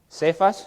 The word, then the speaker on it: Cefas: Que la Biblia también a veces lo llama Cefas. Cefas se escribe con la C.